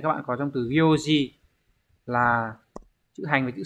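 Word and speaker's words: 行: của chúng ta ấy, nó sẽ có hai cách đọc, âm oyomi là cô và gyo. Ngoài cách đọc là cô trong những trường hợp ở phía trên này ra thì nó còn đọc là gyo trong một số trường hợp khác. Ví dụ như trường hợp nào đây, nó sẽ mang nghĩa là hàng hoặc là dòng thì đọc là gyo nhá.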